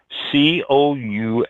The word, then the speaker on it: couscous: can pull out of your brain there Mike c-o-u-s-c-o-u-s it's a middle eastern staple yeah it's uh this is pronounced couscous uh National Day national day yeah